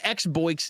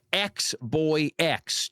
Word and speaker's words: XBOS: Um, pronounced Xboys, not Xboyx, just to be clear.